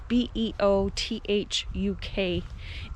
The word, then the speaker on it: Beothuk: The original First Nations people of Newfoundland They are called I think it's pronounced Beothuk or Beothuk. It's Beothuk, and they were here long before white people got here.